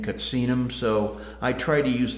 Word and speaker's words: Katsinum: Their preferred pronunciation is Katsina, plural being Katsinum.